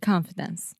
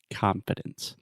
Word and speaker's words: confidence: of the word confidence confidence yeah the first sound that is the ah sound just like confidence confidence at least in